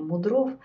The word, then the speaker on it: Мудров: несколько задумывалась потому что вопрос о том как ставить ударение он до сих пор обсуждается в русском языке нет правил здесь как его поставили так она будет ставиться все-таки от старых врачей мы чаще слышим именно такое произношение мудров то есть здесь поколения в поколения она каким-то образом перешло и мы придерживаемся ударение на второй слог что известно об этом